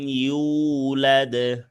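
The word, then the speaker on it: يُولَدْ: লাম ইয়ালিদ ওয়ালাম ইউলাদ। لم يلد ولم يولد হ্যাঁ, এখানে ওয়ালাম ইউ একটু ধরে রাখবেন, কারণ ইয়া ওয়াও পেশ, ইউ পেশের মামে জজমালা ওয়াও, এক আলিফ টান আছে।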